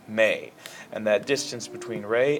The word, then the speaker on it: me: Now, instead of going do, re, mi, I know that this looks like it would be pronounced me, but it's actually pronounced may.